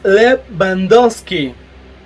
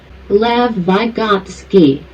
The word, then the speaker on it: Lev Vygotsky: El siguiente autor es Lev Bandowski. No sé si lo mencioné bien. ¿Cómo se pronuncia? Lev Vygotsky. Así se pronuncia.